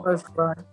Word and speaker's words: Volkswagen: Como la pronunciación correcta de la marca de coche Volkswagen, ¿no? Exacto. Volkswagen. Ajá, muy bien. Eso era lo único que sabía, que la V es como una F por el Volkswagen, pero...